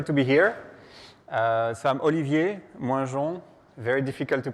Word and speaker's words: Olivier Moingeon: So I'm Olivier, Moingeon. Very difficult to pronounce.